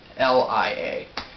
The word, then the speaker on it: Kirlia: No, not Korea. It's Kirlia.